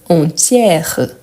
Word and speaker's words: entière: le féminin parfait donc entière entière vous voyez aussi qu' les son R est bien bien ouvert donc c'est la même